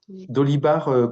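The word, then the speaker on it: Dolibarr: Dolibar comme ça se prononce.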